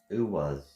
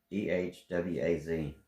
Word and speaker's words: Ehwaz: Uwaz. No, I ain't saying it right. EHWAZ.